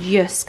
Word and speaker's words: JYSK: This is from that JYSK brand, Yusk, I think you're meant to pronounce it.